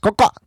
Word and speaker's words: COXO: just spell it out, COXO, pronounced Coca.